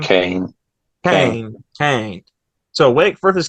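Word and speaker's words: Caine: I think they call him like Chain or however you say his name. Kane, Kane.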